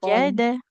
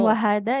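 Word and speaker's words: وَجَدَ: كلما دخل عليها زكريا المحراب Hmm, زكريا المحراب وحدا عندها رزقا wajada. Bukan wahada ya. Iya, Ada titiknya wajada. ini huruf jim, bukan huruf ha.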